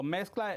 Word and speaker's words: Mexcla: So mezcla, it means a mix. So for the modern and traditional Mexican food, that's what we very put. cool. That's what it is, mezcla. Oh, I see. So when you spell it in Spanish, it's M-E-C-C-L-A, but put M-E-X-C-L-A.